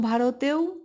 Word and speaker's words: ভারত: স্বর ধ্বনি সমেত প্রথম ভারতেও ভ এর সঙ্গে আ র এর সঙ্গে অ এবং ত এর সঙ্গে অ যুক্ত আছে যদিও অন্ত অরা উচ্চারণ করি না বেশিরভাগ সময় বাংলায় অনেক